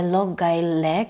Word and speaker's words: Loughgyle: I want you to remember the name, the Loughgyle Lake. You may have some pronunciations in different ways, but I would like you to pronounce it that way.